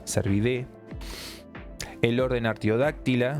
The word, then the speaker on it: Cervidae: En realidad la terminación AE se pronuncia E, Cervidae.